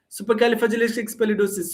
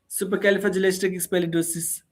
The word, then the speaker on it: supercalifragilisticexpialidocious: Don't give pause. See, this is not a sentence to give pauses for each and every word. This is a single word, hence we can't give any pause. That's a thing here. Supercalifragilisticexpialidocious, supercalifragilisticexpialidocious. It's not like supercalifragilisticexpialid. No, supercalifragilisticexpialidocious.